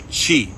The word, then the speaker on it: Qi: Um, and they and they try to stimulate these points and access your chi, spelled Qi, pronouncedqi.